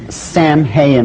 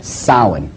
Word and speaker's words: Samhain: look at the name it looks as if it's saying Samhain or something like that no no no no this is properly pronounced and the ancient Gaelic as sowon sowon according to a